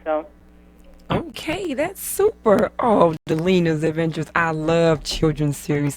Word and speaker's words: Delina: Tell us about Delina. Am I pronouncing that correctly?